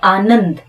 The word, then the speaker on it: आनंद: अब न के ऊपर ये बिंदी लगी हुई है और इसका उच्चारण जो है वो अन आ रहा है, अम की बजाय अन।